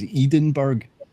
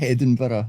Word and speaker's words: Edinburgh: It's actually pronounced Edinburgh. That's correct. Yes. It's not Eden.